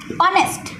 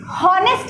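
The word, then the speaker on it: honest: ऑनेस्ट, हम कभी भी हॉनेस्ट नहीं कहते हैं, हॉनेस्ट नहीं कहते हैं, ऑनेस्ट कहते हैं। ऑनेस्ट क्या है? ऑनेस्ट प्रोनाउंस हो रहा है विद द वॉवेल ओ, तो ऑनेस्ट में हम लगाएंगे एन।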